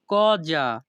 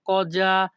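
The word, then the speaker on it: cosa: এর ইতালিয়ান ভাষা হবে কজা এখানে এস এ এর উচ্চারণ হবে যা ইতালিয়ান ভাষা কজা বাংলা অর্থ কি পরবর্তী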